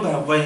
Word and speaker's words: Parvex: saqu todo lo malo parex con no tiene tilde no tiene tilde Pero como esa es la pronunciación original de la medio francés entonces Ah de la parte francesa de Suiza Guillermo parag Entonces es licenciado en